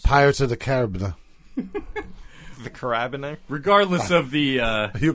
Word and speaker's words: carabiner: It looks like carbiner, but it's carabiner.